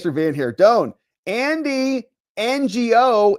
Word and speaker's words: Ngo: Don Andy NGO. It sounds like no.